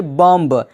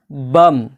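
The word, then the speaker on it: bomb: बी हो ध्यान दीजिएगा अगर किसी शब्द में एम के बाद बी हो तो बी हमेशा साइलेंट रहता है एग्जांपल बम लिखा गया बी ओ एम बी यानी पढ़ा जाना चाहिए बम लेकिन बी साइलेंट है तो क्या होगा बम जिसका माना होता है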